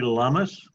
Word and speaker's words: llama: In Spanish, when you see a double L in a word, it is pronounced as a Y. Or sometimes you hear it sounding kind of like a J.